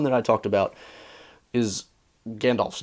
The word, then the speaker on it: Gandalf: that, it would be Gandolf. Gandolf. I'm not pronouncing him like that. Gandalf. The A is ah, okay? I'm pronouncing it like ah, not O.